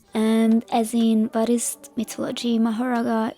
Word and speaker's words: Mahoraga: as in bhist mythology mahara is the Sanskrit pronunciation of his name I will also call